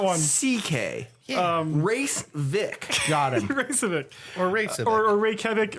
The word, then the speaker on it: Raycevick: I don't really know how to pronounce it. It's Ray Civic, RAYCEVICK. RAYCE. VICK.